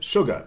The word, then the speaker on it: sugar: Well, why isn't sugar spelled with an SH? Same thing. Sucre, French, sucre. And then sugar, something like this, in Middle English. Sugar, and this sugar, sugar in the end.